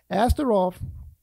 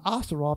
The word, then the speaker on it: Ashtaroth: Ashtaroth, if I pronounce it right, is the plural form of Ashtoreth. One is pronounced Roth, R-O-T-H. The other one is Rep, R-E-T. Roth is the plural form.